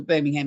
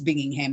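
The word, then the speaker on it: Binghamton: I am I'm sorry I pronounced it what I call the Birmingham it's bingingham I apologize Susan how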